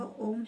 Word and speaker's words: ओम: इसमें 3 यह चिन्ह केवल उच्चारण को लंबा करने के लिए है, अन्यथा यह ओम है। यह 3 अक्षरों ओ, उ और म से मिलकर बना है।